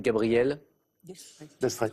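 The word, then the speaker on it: Gabrielle d'Estrées: C'est Gabriel D'Estrée. Ouais. Avec un S qu'on ne prononce pas, ou c'est Gabriel Destrée, mais c'était ça.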